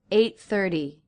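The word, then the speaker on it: eight thirty: 8:30. Notice that the T in the word 30 is being pronounced as a flap T because it comes after an R and before a vowel.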